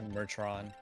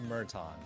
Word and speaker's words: Merton: to say it merton mertron yeah bertrand spreading false information dude just to clarify it's called murton there's no r in there and just to clarify